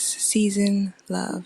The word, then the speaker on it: SznLuv: with your name and it's pronounced season love correct yes season love and it's perfectly imperfectly